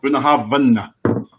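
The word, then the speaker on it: Bunnahabhain: How do you pronounce that, Neil? Bunahabin.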